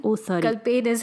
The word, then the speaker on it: Kal Penn: It's not Kalpan. It's Kal Penn. Oh, sorry. Kal Penn is how you pronounce it.